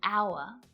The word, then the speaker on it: hour: The letter H can be silent too, and in a few different ways. Sometimes it's not pronounced at the start of words, like honest, honor, and hour, and it can also